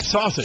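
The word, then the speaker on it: Šašić: woman whose name is pronounced just like sausage sausage it's all night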